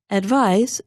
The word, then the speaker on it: advise: s but the verb advise is written with the letter s which is pronounced like Z if you hold your